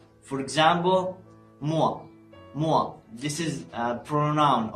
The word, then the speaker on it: moi: The letters O and I in the same word are pronounced like wa. For example, moi, moi.